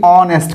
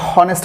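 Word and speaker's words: honest: তো এখানে খেয়াল করেন, এখানে কিন্তু এই অনেস্ট কথাটা আছে, এই ও থেকে শুরু হয়েছে উচ্চারণটা, এখানে এইচের মতো সাউন্ড হয় নাই, এইচটা সাইলেন্ট আছে। তো ও এন ই এস টি, অনেস্ট উচ্চারণ হয়েছে, হনেস্ট হয় নাই।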